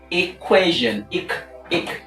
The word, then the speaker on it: equation: it's a spread sound equation equation equ equation with the stress of course on the penultimate label which is quay quay quay equation equation